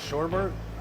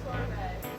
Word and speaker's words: sorbet: It's not sherbet? No. Oh, okay. Sorbet. The Oh, sherbet okay. is spelled like sherbet.